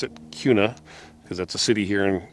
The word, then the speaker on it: Kuna: Uh, it's pronounced Kuna, K U N A. Um, people in Idaho are going to probably try and pronounce it Kuna because that's a city here in in Idaho